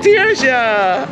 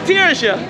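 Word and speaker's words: Tirzha: Tia. What? Say that again. Ta. Can you spell that?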